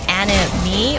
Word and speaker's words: AniMe Matrix: Specifically the, I don't know if it's supposed to be pronounced anime or anim. I keep wanting to pronounce it anime.